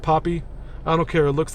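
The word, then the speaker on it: Poppi: the video with um the poop soda the poopy it's pronounced Poppy I don't care it looks like poopy um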